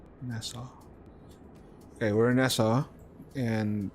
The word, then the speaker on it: Nassau: It's like NASA. Nassau.